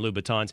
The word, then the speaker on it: Louboutin: It does, makes it any better for you that you're wearing men's Christian Louboutins.